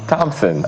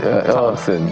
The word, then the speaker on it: Thompson: Thompson uh It's like the H is silent. Thompson.